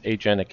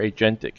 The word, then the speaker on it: agentic: And that's leaning into this agentic AI or agentic AI, whichever way you want to pronounce it. I've heard it both ways.